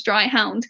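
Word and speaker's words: Dryhound: dry hound and it's spelt the way it sounds dry hound and they make the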